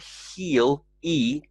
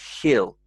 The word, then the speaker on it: he'll: be with us tomorrow so not heal e but he'll ill but said quite quickly he'll be around tomorrow